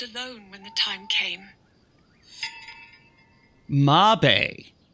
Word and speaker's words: Mabe: Mabe. Mabe Village is how it's supposed to be, how they pronounce it. Okay. I appreciate that information. Which it makes sense, because it's not actually spelled maybe. Mabe.